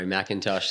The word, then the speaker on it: McIntosh: back again with Scott Macintosh is that how you pronounced your surname yeah BR Macintosh that's it yeah okay yeah I